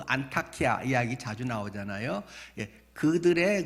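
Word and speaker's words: Antakya: 안 되어 여러분께서 그 안타키아 이야기 자주 나오잖아요 그들의 그 발음으로는 전에는 수리하지만 지금은 그 트리케 터키 국경 그 지역으로 바뀌었잖아요 그래서 트리키의 언어로는 안디옥은 영어식 발음이고 안타치아지여 안타키아 계속 그 여진이든지 엄청나게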